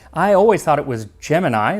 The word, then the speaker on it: Gemini: were making it into space on the upcoming Gemini missions. And yes, it's pronounced Gemini. I always thought it was Gemini, like, the zodiac sign, but according to NASA